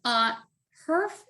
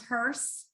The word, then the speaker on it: Herf: But Herf is one syllable, but you would think that would be pretty easy for people to remember. But in the audible, it isn't. It becomes hearse, half, huff.